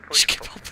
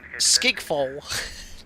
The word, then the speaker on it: Schiphol: It's difficult to pronounce. People say Schiphol, but it is pronounced Skigfol.